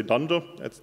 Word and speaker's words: dunder: they are pronounced so not underscore underscore underscore underscore just say dunder that means the same